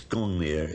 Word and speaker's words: Gungnir: We think that perhaps it might have been pronounced in those days Ungungnir, maybe. It's Gungnir in historic times.